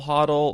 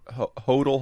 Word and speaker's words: Hodl: on the correct pronunciation of I guess everyone pronounces it differently is it hot I'll huddle or Hodel Hodel those are the two most common pronunciations